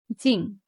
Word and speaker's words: 精: First tone, 精, high, steady.